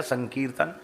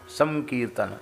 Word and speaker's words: संकीर्तन: तो बन गया संकीर्तन संकीर्तन अनुस्वार का उच्चारण जो है परवर्ती वर्ण के अनुसार होता है। तो क है ना तो क वर्ग का अनुनासिक वर्ण क्या है? ग क ख ग घ के जैसा उच्चारण संकीर्तन संकीर्तन कीर्तन तो है कीर्तन और संकीर्तन क्या है?